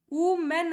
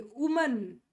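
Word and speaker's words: women: ಕೂಡ ತುಂಬಾ common mistake ಇದು ನಾವು ಹೆಂಗ್ ಮಾಡ್ತೀವಿ ಇದನ್ನ ಉ ಮೆನ್ ವುಮೆನ್ ಅಂತ ಓದ್ತೀವಿ ವುಮನ್ ವುಮೆನ್ ವುಮೆನ್ ಅಂತ ಓದ್ತೀವಿ ಬಟ್ ಇದರ ಇರೋದು ಸ್ಪೆಲ್ಲಿಂಗ್ ಹೆಂಗೆ ವಿಮೆನ್ ವಿಮೆನ್ ವಿಮೆನ್ ವಿಮೆನ್ ಗೆಟ್ಟಿಂಗ್ this ಇದರ ರೂಲ್ ಹೆಂಗಿದೆ ವಿಮೆನ್ ಅಂತ ಓದಬೇಕು ವಿಮೆನ್ ವಿಮೆನ್ ವುಮನ್ ಅಲ್ಲ ವಿಮೆನ್ ಗೆಟಿಂಗ್ this so ವಿಮೆನ್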